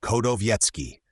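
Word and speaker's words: Chodowiecki: For it seems he never sat to any painter in his reigning days, and the Prussian Kowiecki, pronounced Kodowiecki, and endeavor to make some acquaintance with this Prussian Hogarth, who has real worth and originality.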